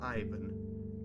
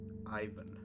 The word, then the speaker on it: Ivan: I'm Ivan. The stress is on the stress is on the I, and it's not Ivan.